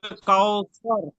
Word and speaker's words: কাউসার: উচ্চারণটা হবে কাউসার।